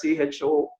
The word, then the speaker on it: choline: It's spelled as CHOLINE, choline.